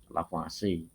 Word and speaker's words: Lavoisier: yang dikemukakan oleh anak-anakku disitu tertulis lavoisier tapi itu membacanya Jangan sampai keliru karena itu nama orang udah ndak boleh diganti-ganti ya kan dari beberapa media ini salah satu gambar atau foto dari lavase dimana beliau mengungkapkan bahwa